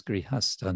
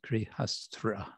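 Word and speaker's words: grihastha: being a grihasta, and the word is grihasta, not grihastra. La primera pregunta con respecto a ser grihastra y no se dice grihastra, sino grihasta. Sta means position, standing, and griha means house.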